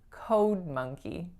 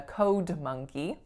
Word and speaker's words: code monkey: makes is o and listen to the linking between the two words code monkey code monkey so you don't hear a strong release on that G right I'm not saying a code monkey that would sound a bit cluttery and then the final